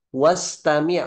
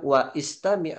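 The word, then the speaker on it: واستمع: Nah, maka misalkan contoh ini, ungzur, wastami' bukan wa istami' tapi wastami'.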